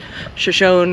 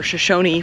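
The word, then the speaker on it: Shoshone: get to what's called Shashon or Shosonyi Falls. I don't know whether it's pronounced with the E on the end, Shashon or Shosonyi.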